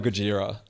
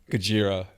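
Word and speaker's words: Gojira: is I I love Gajira. So, there's this French very technical but absolutely brilliant metal band um Gajiraa which is the way that Godzilla sounds when it's pronounced in Japanese.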